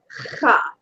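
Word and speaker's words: خ: It's pronounced cha. Try that. Cha. It's way back in the back of the throat.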